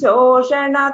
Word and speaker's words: Shoshana: This Sha pronunciation, it is Shoshana. Here also Trishira Shirastritaya. I mean, this Sha should not be pronounced as Sa. That slight difference. Please note that.